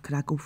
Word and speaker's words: Kraków: let us teach you how to pronounce the most important words about kov with a little story one day in the